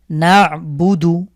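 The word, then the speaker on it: نعبد: দা পেশ দু আলহামদু নাবুদু নুন আইন জবর না এই আইনের উচ্চারণ ঠিকঠাক করতে হবে নাবুদু আশহাদু আমরা জানি সো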